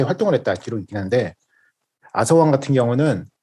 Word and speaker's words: 아서왕: 아더왕 혹은 아서왕이라고 하는데 아서왕이라고 저희 기준으로 할까죠? 아, 그래요? TH 발음이라. 아서 왕으로. TH 발음이라 가지고 이거를 한국인이 발음이 안 되는 저거잖아요. 그래서 그냥 아서왕이라고 하죠, 저희.